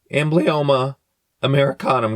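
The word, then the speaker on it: Amblyomma americanum: Ambloma. Um, is that how I pronounce it? Amblyoma Americanum.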